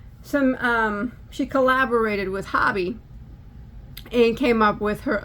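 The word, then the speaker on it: Hobbii: in here it's from Hobby um h-o-b-b-i-i in Denmark or Hobie however be however you pronounce it um someone that lives in Denmark actually told me it was pronounced hobby so that's how I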